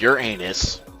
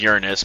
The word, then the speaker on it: Uranus: it and yep we're going to go with your anus yeah i know it's pronounced uranus but it's funnier when you try when you